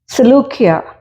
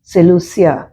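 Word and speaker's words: Seleucia: ഫോയിനീസിയ എന്ന് ഇംഗ്ലീഷിൽ വായിക്കുന്നുണ്ട് സെലൂക്കിയ എസ്ഇ എൽ യു സി ഐ എ സെലൂസിയ എന്ന് ഇംഗ്ലീഷിൽ ഇങ്ങനെ പല പേരുകളും മലയാളത്തിലുള്ള അതേ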